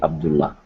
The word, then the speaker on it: Abdullah: So Abdallah? Yeah, thank you so Oh, much. Abdallah. Is it Abdallah? Yeah, it's in Arabic pronounced exactly Abdullah.